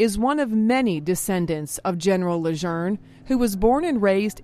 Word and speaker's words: Lejeune: adjourn get right rott block general John Archer Luzerne John Archer Luzerne get a ride Marine John Archer reserve right